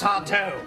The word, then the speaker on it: Sardo: That's Sardo. No, mister. Accent on the toe.